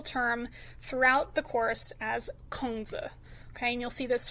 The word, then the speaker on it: Kongzi: It's actually a Latinized version of his name and is not anywhere close to what the classic Chinese characters would have sounded like when they were pronounced. So what's more accurate is Kongzi.